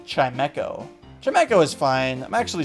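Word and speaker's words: Chimecho: like that's all this thing is good for chimo uh it's pronounced chimco chimco is fine I'm actually surprise I usually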